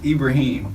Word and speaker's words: Ibrahim: that me all wrong my name is Ibrahim Ibrahim me a lot of people can't pronounce that so they call me or will just Ibrahim me you bring this Arabic for Abraham yeah prophet oh cool